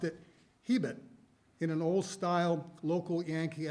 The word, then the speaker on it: Hebert: Our name might be Hebert in Quebec or South Louisiana, Hebert in Nova Scotia, Hebert in Standard America, but Dad pronounced it Hebert in an old-style local Yankee accent you don't hear much anymore.